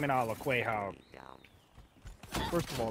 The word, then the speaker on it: Quahog: That's a very, very, very respected name in all of Quahog. First of all, it's pronounced Quahog.